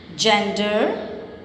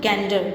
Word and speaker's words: gender: Danger, logic, energy, gender. We don't pronounce it gender. It is gender because it has E after G. Okay?